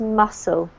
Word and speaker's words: muscle: There's no hard C sound, so it's just muscle.